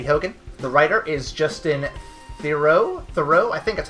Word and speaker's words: Theroux: The writer is Justin Theroux, I think that's how you pronounce it. Justin Theroux, yeah, you got it.